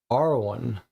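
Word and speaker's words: Arawn: an arcane ancient language, is believed to be pronounced Arwan. May you recite it with joy and trembling and welcome the truth into your heart. So, here's another mention of Awan, the spirit that we first encountered in the woods.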